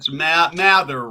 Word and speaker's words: Mather: And I think I butchered it. It's Mather, right?